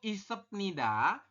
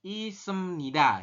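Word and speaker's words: 있습니다: ya kemudian e dari Yori Hago isepnida berubah bunyi menjadi Yori Hago isemnida ya ininya ke mananya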